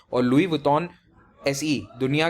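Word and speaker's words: Louis Vuitton: का नाम सुना होगा, लुई वुइटन। हाँ, इसका ऐसा ही प्रोनाउंसिएशन होता है, लुइस वुइटन नहीं होता। मैं भी बचपन में से यही कहा करता था, बट the actual pronunciation is लुई वुइटन।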